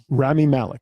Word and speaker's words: Rami Malek: Rami Malek.